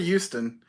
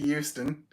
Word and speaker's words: Houston: From home to Houston. Either that or from... He means Houston with an H. He doesn't... I pronounce it properly. No, you don't. It's not Houston. It doesn't start with a U.